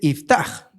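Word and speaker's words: יפתח: Y aquí dice iftaj, que es una pronunciación más correcta, por así decirlo, del nombre.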